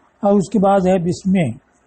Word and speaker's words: بسم: اس کے بعد ہے بسمے، تو اصل اس کی بے اسمے، حمزہ چونکہ وصلی ہے تو وصل میں ملانے میں وہ گر جاتا ہے تو تلفظ میں نہیں آتا۔ اب لفظ اسم کی اصل کیا ہے؟